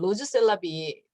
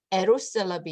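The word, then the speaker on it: Rrose Sélavy: 왼쪽에 있는 거는 음 발음 그대로 읽으면 로즈 셀럽이 마치 이렇게 어떤 여성의 이름처럼 보이는 로즈 셀럽이라고 읽을 수도 있고, 또 다른 한편으로는 불어로 알자가 제일 앞에 나오면 알 발음을 하는 게 아니라 엘 발음을 해요. 그래서 에로스 셀럽이 이렇게 읽을 수도 있는데, 이 사진 한 장에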